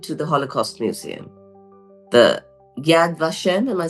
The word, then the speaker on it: Yad Vashem: Israel I went to the Holocaust Museum the Yad vashem am I saying it right yeah Yad vashem MH um and there was a lot of